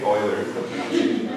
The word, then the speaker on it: Euler: Euler. In Europe they say Euler. Huh? It's Swiss. It's just they have a word pronunciation.